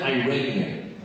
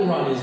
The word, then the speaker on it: Iranian: This 6th grader came up with a clever nickname, calling me an effing Iranian. That's what people called Iranians back then. Effing Iranian. First of all, I explained, it's pronounced Iranian, not Iranian.